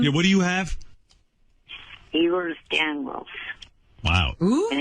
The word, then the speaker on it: Ehlers-Danlos: Ehlers-Danlos.